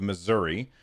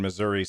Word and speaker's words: Missouri: This guy, he's a Republican out of Missouri, or as the people in Missouri say, Missouri.